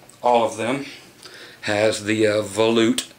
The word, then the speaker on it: volute: But if you guys ever wonder how to pronounce that, yes, it is volute.